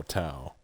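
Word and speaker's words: T'au: a u empire is pronounced t o w or t o w like wow. So Tao also spelled Tao Empire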